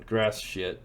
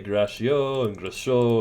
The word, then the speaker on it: Gratiot: bit of Detroit on grass Road and I didn't cuss supposedly that's how you pronounce it I try to say gracio and no that's told it was grass but uh part of